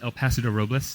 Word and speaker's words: El Paso de Robles: Well, if you're a local, you say Paso Robles, but that is not the correct way to say it. It is El Paso de Robles, the passage of the oaks.